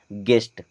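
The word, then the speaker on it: guest: क्या पढ़ते हैं building ji यू ई एस टी यहां पर यू होगा साइलेंट क्योंकि यू के बाद में ई आ रहा है और ई भी वावेल है तो अब इसे क्या पढ़ेंगे गेस्ट गेस्ट मींस मेहमान होता है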